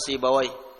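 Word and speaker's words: Sibawayh: imamuyuti qiraahnya Ahlul lghah alugawiyun mereka mengatakan sibawai kalau muhadtin membacanya sibuah waih mau dibaca apa Gak ada masalah karena ini adalah nama ajamiah di dalam bahasa Arab yang namanya nama ajamiah tidak ada kaidahnya sibaw atau sibuya enggak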